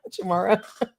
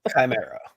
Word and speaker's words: Chimera: Did I keep mis pronouncing the name? Chamara. Chimera.